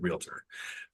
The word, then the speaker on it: realtor: to put realtor and teach people one more time that there's two syllables in the word realtor some people need to